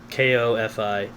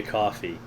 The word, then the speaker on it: Ko-fi: says "Buy me a coffee," I assume that that's how they want it pronounced. Kofi is coffee, although it looks like Kofi.